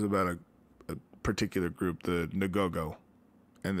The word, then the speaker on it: Ngogo: it was about a particular group, the Ngogo. And it's spelled N-G-O-G-O, if you want to YouTube it.